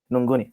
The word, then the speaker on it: Nguni: now specifically Nguni, yes. Oh, okay. I'm pronouncing it Ngoni.